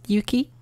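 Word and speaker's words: 雪: Next we have snow, which has the rain kanji inside of it on top and then the e, pronounced yuki.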